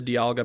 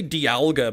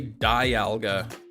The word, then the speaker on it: Dialga: out you lost the Diga path I always say dalga but I found out it's Diga I know some people say Dialga like a diamond if breaking the law